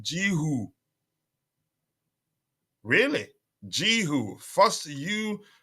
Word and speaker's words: Guiu: uh by the way coach apparently guoy is pronounced jiu really ji who first you is silent but